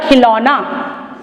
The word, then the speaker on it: खिलौना: खिलौना कर दो कि खिलौना यह शब्द गलत है बच्चों क्योंकि खिलौना में बड़े और की मात्रा आती है छोटे हो कि नहीं आती तो शब्द बनेगा खिलौना कि उच्चारण भी बदल गया इसका और मात्रा भी बदल गई है वायु है है वाह